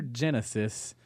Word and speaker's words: Genisys: to be called Terminator Genesis. With a weird spelling. Right. It's spelled Genisys. Oh, like system.